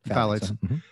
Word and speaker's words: phthalates: on and they're called i think they're called phylates is that the yeah pronunciation phthalates and she was talking about you know when